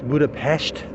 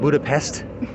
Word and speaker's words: Budapest: Oh yeah, and by the way, that's how you pronounce it here. It's Budapest. not Budapest.